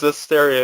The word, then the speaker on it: Zestiria: And recently it was found of a trademark called, get this, Tales of Zestiria. It sounds a little too close. What? It's Zestiria. It's spelled Zestiria. Tales of Zestiria.